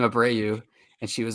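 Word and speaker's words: Abreu: say his name ABW you say his name abrau and she was like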